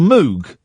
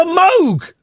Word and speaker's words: Moog: There's a a synthesizer called the Moog. I'm familiar. Yeah. Yeah, it's not. It's called the Moog. Yeah, I know. It's pronounced Moog.